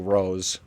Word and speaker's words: Roos: Top three, Roos. I think it's actually pronounced more like Rose.